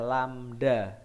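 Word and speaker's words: lambda: cepat rambat lamda pete ini bacanya adalah lamda cara menulisnya Gimana Pak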